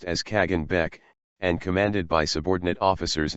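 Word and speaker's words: Khagan Bek: Khazar armies were led by the Khan Bek, pronounced as Kagan Bek, and commanded by subordinate officers known as Tarkhans.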